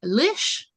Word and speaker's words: Lish: How about Lish? Hi, Rhymes with wish.